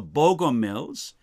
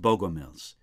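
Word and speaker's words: Bogomils: Sometimes in the literature, I find their name written with an E in it and sometimes without, but I think it's pronounced Bogomiles.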